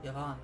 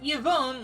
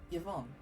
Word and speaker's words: Yvonne: Yvonne. Okay, that's how you pronounce her name. Not Yvonne, like everyone else on YouTube has been saying. Yvonne.